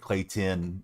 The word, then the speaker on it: Clayton: because it actually sounds like Clay Tin uh a bit more when you pronounce at least the way I say it.